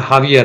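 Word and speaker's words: Javier: राष्ट्रपति का दौरा, यानी हावियर मिलेई, लिखते हैं जे से लेकिन उच्चारण हावियर है, दक्षिण अमेरिका का ये है।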